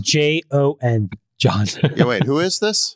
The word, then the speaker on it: Jon: it's spelled J-O-N, John.